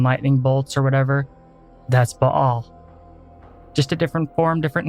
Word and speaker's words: Baal: Baal, one of the Canaanite gods, also called Baal, which is the way I prefer to pronounce it, is the prototype for the lightning god across all cultures, globally.